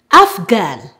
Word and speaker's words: Afghan: When GH is at the beginning of a word or at the beginning of a stressed syllable, it is always pronounced G.